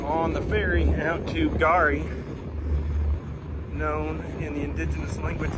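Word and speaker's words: K'Gari: tours and I did learn that it is pronounced gari not kagari U it is the indigenous name of uh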